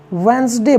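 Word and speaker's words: Wednesday: डी ए वाई इसको वेडनेसडे ना पढ़के हम वेनसडे बोलते हैं क्या बोलते हैं वेनसडे ठीक है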